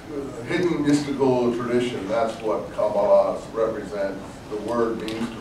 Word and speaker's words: Kabbalah: They often are interested in what is now popularly called Kabbalah, pronounced by some Kabbalah, but I think the pronunciation is Kabbalah.